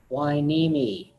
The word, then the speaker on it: Hueneme: and if you're guessing that word is pronounced Hueneme not an enemy not gonna mean why meanie it's the name of